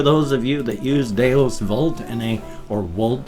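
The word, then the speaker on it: Deus Vult: And for those of you that use Deus Volt or Volt, since it's like Latin and the V is pronounced as a W, then thumbs up for that.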